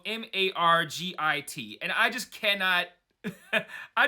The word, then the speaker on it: Margit: It's an Italian name that's pronounced Margit, so I'm just going to call her that from now on.